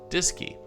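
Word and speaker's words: DSKY: featured an iconic interface called the dsk Y pronounced disy short for display and keyboard this device allowed astronauts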